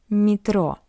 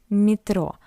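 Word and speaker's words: метро: And we can see that after M we have Y, that's why M is soft, metro, metro. But Y is unstressed, that's why we pronounce it as E, metro.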